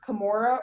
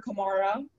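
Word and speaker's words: Camorra: The word is can be pronounced Kimura or Kimara.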